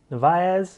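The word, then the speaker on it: Naesen: really know what happened navis is how you pronounce his name for enos grenadiers he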